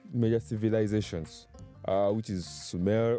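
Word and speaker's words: Sumer: Well, today uh we work with six major civilizations uh which is sume or what you can pronounce as summer, what you can pronounce as anything you want to pronounce it which is president Mesopotamia.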